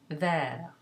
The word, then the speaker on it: vert: So you would have, for example, the masculine singular vert, you add an S to make it masculine plural, and it's still vert.